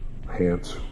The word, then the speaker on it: Hance: Tempest, Haunts, Hance, rhymes with dance, rhymes with dance, rhymes with dance, rhymes with dance, Hance, rhymes with dance, Hance, Shadow Spawn.